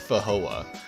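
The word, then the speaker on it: feijoa: o a or something like that it's it's pronounced fahoa um they're supposed to taste like incredible and i really want to try them i've never seen them for sale uh anywhere but that's a fajoa never tried it putting it there similar to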